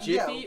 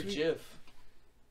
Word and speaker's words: Jif: I've is it Jiffy or Jiff? It'd be Jiff. It's Jiff, but we're retarded, so we say Jiffy.